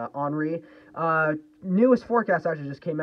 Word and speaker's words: Henri: It's pronounced Henri, not Henry. It's Henri.